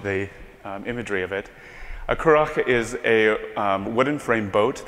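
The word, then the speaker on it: currach: The word is pronounced Curach, and it's an Irish boat.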